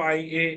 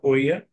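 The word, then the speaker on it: Oia: Dome churches the stunning sunsets and e o IIA is pronounced as I not OA rather I and the volcanic Landscapes create a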